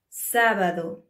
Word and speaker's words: sábado: In Spanish, we always stress the second syllable when one word has three syllables. But here we have a tilde, so we stress the first syllable. Sábado.